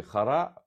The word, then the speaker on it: Хара: Як насправді Хара Харі. Так, воно не відмінюється наголос на останній слово.